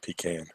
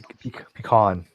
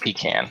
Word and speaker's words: pecan: It's pronounced pecan. On. Pecan. On. Not pecan.